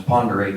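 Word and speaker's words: Pend Oreille: Commissioner Kiss gives me a chance to pronounce Ponderay County in its correct form.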